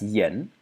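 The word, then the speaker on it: 言: And it means, well, it's pronounced yen, and it means words.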